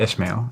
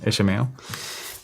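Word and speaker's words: Ishamael: Let's go ahead and pull up Ishmael Is that how you say it? Ishmael? It's not Ishmael. Ishmael.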